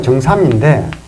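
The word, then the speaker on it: 曾參: 그리고 이 정자가 정삼인데, 원래는 참이라고 읽어야 되는데요.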